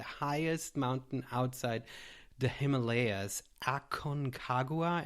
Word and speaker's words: Aconcagua: mountain outside the Himalayas Aon kagua am I pronouncing that correctly yep that's uh it's correct fantastic so congratulations this